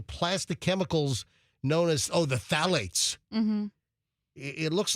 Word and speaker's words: phthalates: chemicals known as the phthalates. Mm-hmm. It looks like it's spelled phthalates, but it's pronounced just phthalates because it's spelled PHTHALATES. Yeah. Was it a silent PH?